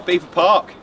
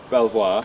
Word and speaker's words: Belvoir: haven't here we are beaver park it's about belvoir which is how the french say it um no they don't french say beaver park it's americans say belvoir correct b-e-l-v-o-i-r is belvoir i mean for my